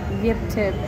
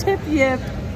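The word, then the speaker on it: Tip-Yip: It is not Yip tip. It's tip yip. And I've been saying it wrong this entire time.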